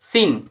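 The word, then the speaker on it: scene: For example S সি আই এন সিই সাইন্স এরকমভাবে এস সিই এনই সিন এখানে কিন্তু সি এর উচ্চারণ হচ্ছে না।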